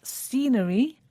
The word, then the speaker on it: scenery: They were scenery, accommodation, and restaurants. Scenery starts with a S sound, but it's spelt S-C. It's quite easy to forget the C because you don't hear it.